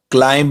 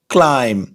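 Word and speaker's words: climb: क्लाइम, इसमें भी silent है, क्लाइंब नहीं, क्लाइम। क्लाइम का हिंदी में मतलब होता है चढ़ना।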